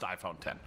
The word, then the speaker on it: iPhone X: Wait, bro, is it iPhone 10 or X? I thought it was X. That's probably my bad. It's pronounced iPhone 10.